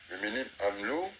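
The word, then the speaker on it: Le Mesnil-Amelot: au mil pardonil Amlo parce qu'on ne prononce pas le S le Menil Amlo et ben ils n'ont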